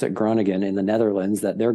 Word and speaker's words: Groningen: I ended up, there was a team in the northern town called Groningen, is how you pronounce it, Groningen in the Netherlands, that their goalie had just left.